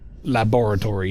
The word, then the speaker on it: laboratory: I guess I just kind of get rid of the O.